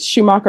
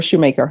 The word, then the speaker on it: Shoemaker: Is it Schumacher or Shoemaker? Shoemaker.